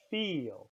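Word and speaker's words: viel: When we say that same sound, feel, in Dutch, it's spelled with a V, feel. And the word feel means many, feel.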